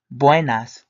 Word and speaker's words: buenas: O you want to pronounce join us with a W next to the B so you get the boy sound and then when you